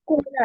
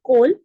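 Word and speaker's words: call: जैसे कोल आया, कोल आ रहा है, इट्स नॉट कोल, कॉल आ रहा है. कॉल कॉल होता है ना, तो इस तरह से ओ पे बड़ा स्ट्रेस दिया जाता है ना.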